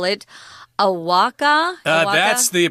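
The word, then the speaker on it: ahuacatl: they would call it Awaka? That's the pronunciation we got from the internet, so we're going to go with that, although people might tend to want to pronounce the T and the L there.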